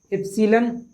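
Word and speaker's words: epsilon: देखिए ये जो इप्सिलॉन है ना, इसको हम लोग क्या बोलते हैं, इप्सिलॉन नॉट बोलते हैं, है ना। इसको अंग्रेजी में बोलते हैं एप्सिलॉन नॉट। मैं पढ़ रहा हूँ ना, आप समझ, इसको ये उच्चारण होता है, ठीक है।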